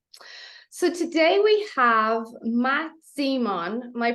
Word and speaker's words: Zemon: So today we have Matt Zemon. Am I pronouncing that correct?